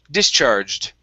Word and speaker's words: discharged: is discharged okay so our stress our stress is at the very beginning discharged discharged okay very nice very